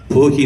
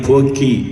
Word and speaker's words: போக்கி: அங்கே உள்வாங்கி பயன்படுத்த வழங்குகிற அந்த நாள்தான் போகி நாள் இல்லை, பழையன போக்கி நாள். எனவே அதை நீங்கள் போக்கி நாள் என்று தான் உச்சரிக்க வேண்டும்.